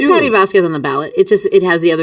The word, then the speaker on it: Patti Vasquez: here with Patti Vasquez. Is how you pronounce her name.